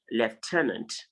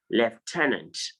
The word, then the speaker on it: lieutenant: a sound before the so you pronounce it as left turned lieutenant lieutenant left tenant so he's pronounced it is pronounced lieutenant yes and then i